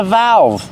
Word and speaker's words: valve: This is a valve. Pronunciation, valve. Use the short A sound like black cat.